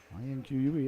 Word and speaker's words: Inque: I-N-Q-U-E, Inque, I believe would be how you say it.